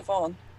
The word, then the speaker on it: Siobhan: Shaban. Shaban! I had to give her, like, not an easy name, I guess. I I know it's pronounced Siobhan, but oh, a French person doesn't know how to pronounce it that way.